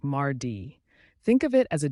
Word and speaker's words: mardi: next comes Tuesday or Mari in French it's pronounced like Mardi think of it as a day to March